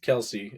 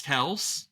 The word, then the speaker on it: Kelce: player Jason Kel Jason Kelsey AKA shotgun it's actually pronounced Kel Oh I thought it was Kelce that was on their podcast apparently people called them Kelsey and their dad stopped uh correcting them huh crazy well